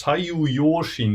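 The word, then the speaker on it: 左右揺振: So there's this word which is in Japanese pronounced as sayu yoshin.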